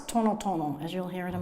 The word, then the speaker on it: tan: reported by broka it wasn't tonon it's ton ton as you'll hear in